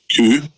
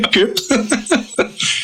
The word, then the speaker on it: coup: So in 1935, those German officers instigated a coup, not a coup. Just a coup. I did pronounce the P when we did our first Hitler episode.